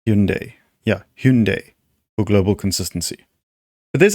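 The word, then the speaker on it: Hyundai: In Korean, that word is pronounced closer to like that. Like Hyun as in Hugh. Hyun? Hyun-day. Hyun-day. A softer two-syllable sound, not Hyun-day, which is the common English mispronunciation. Korean speakers use a sound similar to Hyun-day or Hyun-day, emphasizing the first syllable.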